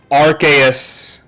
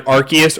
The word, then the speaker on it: Arceus: it would make sense, because why else would Arceus summon you, you know, if you are dealing with godly Pokemon?